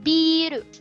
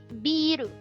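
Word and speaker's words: ビール: hiragana but in katakana which is beeru it almost sounds like beer but because in japanese uh they pronounce words for syllable so beer biru okay so beer that is one syllable in english becomes two syllable in japanese it is in katakana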